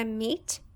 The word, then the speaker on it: meet: vamos prestar atenção aqui o meio no presente ele tem dois ex juntinhos assim ó e a pronúncia ficar MIT mas quando ele tá